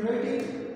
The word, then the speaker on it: writing: जो टेक्स्ट है ना, यहाँ पर साइलेंट है। ये लोग आप ऐसे नहीं प्रोनाउंस नहीं कर सकते कि राइटिंग राइटिंग आप इसको इस तरह प्रोनाउंस कर सकते ना, राइटिंग क्या राइटिंग जो है ना ये साइलेंट है।